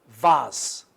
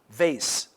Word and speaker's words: vase: soap and this is vaz okay this is vaz or vas vaz or vase razor razor okay we